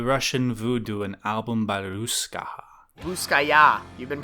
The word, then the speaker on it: Russkaja: voodoo and album by ruskaja you've been pronouncing it wrong this whole time dude you pronounce the j like a y yeah can you do